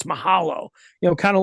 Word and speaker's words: Mahalo: it said Mahalo on it now I always pronounced it Maho until Michelle and I did our podcast together she's like no it's Mahalo you know kind of like uh ukulele is